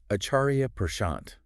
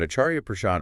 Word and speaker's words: Acharya Prashant: going to be diving into the teachings of acharia pant pronounced properly as aaria I Kia on Karma very cool you might think you know mhm but acharia pad offers some mind-bending twists on this concept that